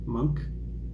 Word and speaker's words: Munch: with the art of Monk I think it's pronounced monk uh spelled m-u-n-c-h and I've already listened